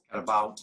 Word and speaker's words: carabao: Carabao is the carabao. I'm pronouncing it the Chamorro way.